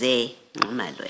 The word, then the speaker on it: Zingumalo: It reads Zingumalo, and I think it's important because there is a person who is known as Zingumalo, and I think they should not be mistaken because of how you've pronounced it to be the person that you're referring to. So the correct pronunciation is Zingumalo, as is written here.